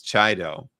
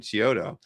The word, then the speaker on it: Chiodo: I had Wills Portasio on last Tuesday, and he pronounced Joe's last name as Chido. Is that right? Well, And that's, I don't know. well, no. Well, it's funny, you know. Well, because I've always pronounced it like you did, Chiodo.